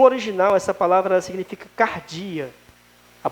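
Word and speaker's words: καρδία: coração irmãos no original essa palavra ela significa Cardia a pronúncia dela e ela significa a alma ou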